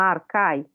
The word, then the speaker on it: Archai: de pesquisa que chama Arcai, que se escreve Archai, né? Arcai, porque o CH tem esse som na transliteração do grego.